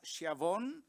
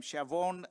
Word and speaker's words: Schiavone: that, which is Schiavone. I think he pronounces his name Schiavone currently. I think it was Schiavone in the past.